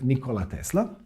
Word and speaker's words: Nikola Tesla: inventors that world ever had his name was nikola tesla and yes that's how his name is properly pronounced or at least that's how he would